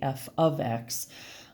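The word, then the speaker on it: f(x): You would not say this, you would not say f times x, you would say f of x, meaning that whatever number was placed into the x here.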